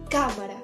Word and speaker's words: cámara: una palabra esdrújula y dice pronuncia cámara y metemos la fuerza de voz en la primera sílaba cámara OK espero que haya